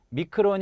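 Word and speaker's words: μικρόν: 하지만 그리스어로 " 미크론 " 은 실제로 " 작은 " 이라는 뜻 입니다 . 따라서 1 미터 의 백만분 의 일 , 즉 1 미터 의 백만분 의 일 을 나타낼 때 " 마이크론 " 이라는 단위 를 사용 합니다 .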